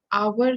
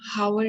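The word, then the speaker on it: hour: कि आवर को हम हावर नहीं कहेंगे, ऑनेस्ट को हम हॉनेस्ट नहीं कहेंगे. We would pronounce it as voiceless H, यानी उस H की आवाज नहीं है.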